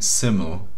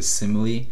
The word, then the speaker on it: simile: I was saying simile, but it's actually simile, and it's the kind of same thing as metaphors, so hopefully you got my point.